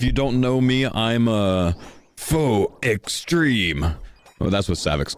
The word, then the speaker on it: Faux: I'm Faux, also known as, or if you're Soda. I don't know how he got foul out of that. I think people told Soda the X is silent, so he's literally trying to pronounce this. So he thinks That's not how that works.